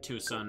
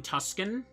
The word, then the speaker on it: Tucson: real town Tucson right but you spell it like t s or sorry t c o n even I know how to pronounce Tucson Oh you mean Tusan my favorite American town tusin I wonder if people